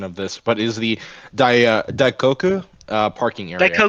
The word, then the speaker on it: Daikoku: Um the main area is the um sorry for the butchering in the pronunciation of this, but is the Daikoku uh parking area. DKU. Daikoku.